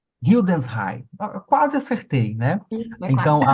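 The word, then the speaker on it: Hildesheim: doutoranda no Instituto de Filosofia da Universidade de Hildense. Eu vou até pedir para que a Amanda pronuncie para evitar o meu constrangimento. Como é a pronúncia correta, Amanda? Oi, bom dia. É Hildensheim. Hildensheim.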